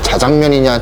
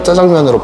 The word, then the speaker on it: 짜장면: 여러분 우리의 희대 과제입니다 자장면이냐 짜장면이냐 뭐가 맞을까요 여러분 딱 보니까 국어사전은 자장면 이거 뭐 아나운서들이 자장면이 이러잖아요 근데 저는 솔직히 짜장면이 맞다고 보거든요 근데 중국식 발음이 짜쯔양 미인이랍니다 그래서 짜장면으로 발음하기 좋게 이렇게 변천 됐을 거라는데 저는 짜장면 전혀 그냥 짜장면입니다 여러분 그리고 또 짜장면을 하면